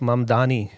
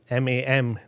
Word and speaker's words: Mamdani: The name is ममदानी. MAMDANI.